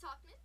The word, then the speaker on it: Tauchman: Mike Tauchman for the Chicago White Sox.